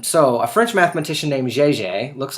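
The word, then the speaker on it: Jaeger: than that um so a French mathematician named JJ looks like Jer but pronounced JJ solved that figured out that this number is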